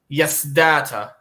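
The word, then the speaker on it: Yaṣdaṭa: Yasdata. How do you spell that? Yasdata. Oh, so like Yas data. Yes, data. Interesting. But with like a dot under the S and also a dot under the T.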